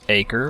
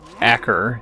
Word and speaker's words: Acre: So we've got a choice, Acre or Acker as some might pronounce it in the local vernacular, or Jerusalem.